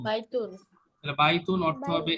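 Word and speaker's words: بَيْتٌ: আর indefinite যখন থাকবে তখন ওই অবস্থায় এনটা থাকবে। যেমন বাইতুন, বাইতুন তাহলে বাইতুন অর্থ হবে এ হাউস, একটি ঘর।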